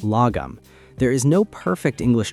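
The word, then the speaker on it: lagom: The Swedes have a cultural concept called lome pronounced logum.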